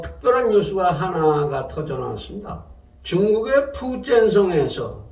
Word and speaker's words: 푸젠성: 중국의 푸젠성에서, 중국의 푸젠성, 우리식 발음으로 복건성이라고 그러죠.